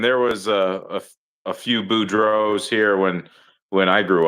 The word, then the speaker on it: Boudreault: a lot of people there's no LT at the end.